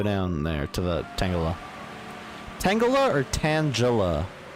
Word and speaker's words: Tangela: Tangela or Tangela? I always think it's Tangela because it's like a tangle.